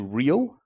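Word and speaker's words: Reahl: spare time goes into real which is re a l with a silent h a collection of projects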